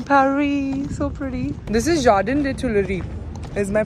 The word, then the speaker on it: Jardin des Tuileries: This is Jardin des Tuileries. Is my pronunciation correct? Yeah, Jardin. Jardin. Jardin des Tuileries.